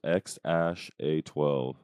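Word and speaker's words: X Æ A-12: and that you want to like X it's pronounced X Ash a12 OH X xash a12 babe I'm not getting that from X AE a-12 that's pronounced that's why they're that's why they're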